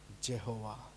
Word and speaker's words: Jehovah: of holies were protected he is pronounced Jehovah until they write none